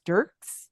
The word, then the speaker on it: Dierkes: to have Chris Dirks did I say it right a durys well actually depend depending if you asked other sides of my family you pronounced it correctly for one side of my family and the other side of the family so there's not even agreement within my own family so you're fine I got a 50%